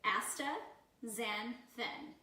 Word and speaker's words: astaxanthin: word for you so we're gonna pronounce it for you asta Zen thin and it basically is